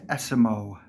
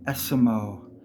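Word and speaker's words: Esiemo: we go last one say the word Eskimo and remove the K his name is pronounced esimo Eskimo remove the K esimo it's not aimo or ASO it's esimo very easy Smo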